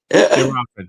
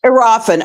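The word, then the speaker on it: Kiki Iriafen: You've got the rookie Sonia Citron from the Mystics, and you've got Kiki Arafin from. Am I pronouncing that right? Arafin, yes. Arafin.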